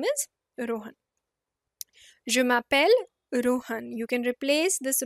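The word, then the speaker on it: je m'appelle: is ending with e so we remove that e and we put an apostrophe and we pronounce it together jumel Rohan literally translating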